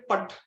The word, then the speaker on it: put: लेकिन यदि आप PUT देखेंगे, PUT पुट मतलब, तो PUT में हम लोग यू को प्रोनाउंस नहीं करते अ की तरह। हम लोग ऐसा नहीं बोलते पट, हम लोग पट नहीं कहेंगे ना, हम लोग क्या बोलेंगे, पुट बोलेंगे।